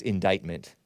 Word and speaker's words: indictment: this awaiting possible indictment I learned that that's indictment indictment it's spelled indicament indictment indictment which means charges basically